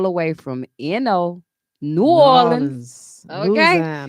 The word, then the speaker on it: New Orleans: way from you know new orleans okay you gotta say it like that new orleans new orleans new orleans